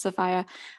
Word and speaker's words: Sophia: collection i know it looks like sophia it's pronounced sephia smith college has the ywca papers i think